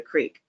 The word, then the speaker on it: creek: mom, they would like go to the creek, or they pronounced it crick because they had southern accents.